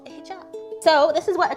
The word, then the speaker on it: hijab: A hijab. It's like 2 syllables, Teddy, you moron.